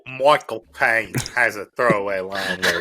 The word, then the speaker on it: Michael Caine: I can at least do Michael Caine. The trick is to say it like you're saying my cocaine.